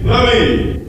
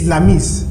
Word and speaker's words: Lamis: Usher, justice, please, Lamy. Why does he say my name Louis Lamy? It's Lamis.